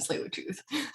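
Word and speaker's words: Tsleil-Waututh: Um, just wanted to share that it's Buswam, Squamish, and Slate with Tooth.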